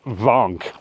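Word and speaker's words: Wank: So it's a gotta go to, but it is properly pronounced Mount Vank, just not by English people.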